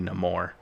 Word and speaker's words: Namor: But he's of his people are of Latin descent, so why shouldn't it be Namor? Because that's how you would pronounce it in a Latin language.